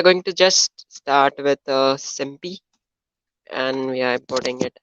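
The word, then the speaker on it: SymPy: So we have to import one library called as SMPY, SIMPY. Okay, you can pronounce it like that. If you are from India, you can pronounce it like that only.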